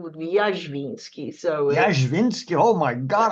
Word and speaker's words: Jazwinski: or jazwinski well here in this country I'm jazwinski I actually I know hakara trees are also